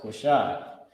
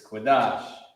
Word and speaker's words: Qadash: I was about to put Quashai. It's Qadash. Okay.